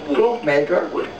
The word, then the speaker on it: Klompenmaker: Ja, how do you pronounce it? Klompenmaker.